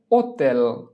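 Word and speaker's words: hotel: হোটেল এর Italian হচ্ছে ওতেল। ওতেল, আক্কা ও তি এ এল, ওতেল, আক্কা ও তি এ এল, ওতেল। ওতেল অর্থ হোটেল। ইতালিয়ান ভাষায় আক্কা এর কোনো উচ্চারণ হয় না।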